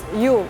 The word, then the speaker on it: Yule: this word in the Old English we now pronounce it as u which is where we get the name you